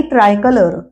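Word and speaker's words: tricolour: flag म्हणजे झेंडा आणि ट्राय कलर ट्राय कलर टी आर आय आणि कलर ट्राय असा उच्चार करायचा ट्राय कलर तिरंगा त्याच्यापुढे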